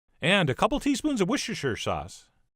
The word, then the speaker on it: Worcestershire: a couple teaspoons of Worcestershire sauce, which I've been told I could just pronounce Worcester sauce, which sounds a little too easy.